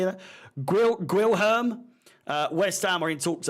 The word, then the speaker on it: Guilherme: Luis Guillermo, how do you say that? Guilherme.